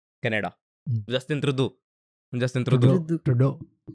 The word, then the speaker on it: Trudeau: तो बाकी हाँ, Canada, Justin ट्रूडो, ट्रूडो। ट्रूडो आई to specifically Google की उसका नाम प्रोनाउंस कैसे करते हैं।